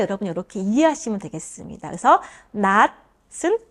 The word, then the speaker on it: 낫: 이것은 드로 대체해서 드로 대신해서 발음 나요.